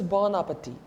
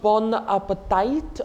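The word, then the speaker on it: bon appétit: last word for today is born uppity not Bon Appetite or Bon Appetit though and don't not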